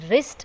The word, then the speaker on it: wrist: The letter W is silent when it sits before the letter R, as in wrist or ring.